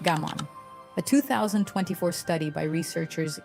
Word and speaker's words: gaman: It is called gaman, pronounced gammon.